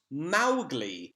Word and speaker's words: Mowgli: and finally Moshi would mispronounce Mowgli's name it's pronounced Mowgli this was confirmed by the writers daughter Elsie